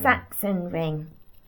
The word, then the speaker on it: Sachsenring: I come back at the, how do you pronounce that? Saxon ring. Saxon ring.